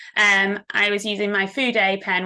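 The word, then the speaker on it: Fude: I was using my food a pen which is spelled like Feud so f-u-d-e it's a sailor uh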